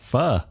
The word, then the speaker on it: pho: How about pho? Yep. I've been told you have to say it like you're asking a question. Pho? Yeah. Apparently that's the way to do it.